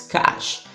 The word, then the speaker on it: cache: Hey guys, Brain here, and the question for today's video is what is cash? And yes, that's how you actually pronounce the word.